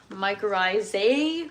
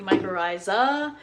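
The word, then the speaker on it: mycorrhiza: Um, I actually had to check a couple of different places just to make sure I was pronouncing it correctly because it looks like microiza, but it's really microisa.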